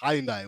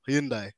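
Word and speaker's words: Hyundai: you guys work with hindai or hindai as the pronunciation goes so we'll get into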